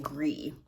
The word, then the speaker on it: gris: Yeah, well, it's Gris, so it's gris in French. I don't know how they pronounce it. Maybe people call it grise. Don't know, but that's what it probably should be.